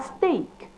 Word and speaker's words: steak: common than others, but EA is not always E. And an example is STEAK, a slice of meat which is pronounced a steak, and STEAD, which is also pronounced differently as stead.